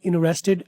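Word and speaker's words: interested: आई एम इन्वेस्टेड इंटरेस्टेड British इन्वेस्टेड American इंटरेस्टेड British American दोनों बोलते हैं American वाले पहले वाले टी को साइलेंट अक्सर कर देते हैं इनरेस्टेड ये सिर्फ यहां पढ़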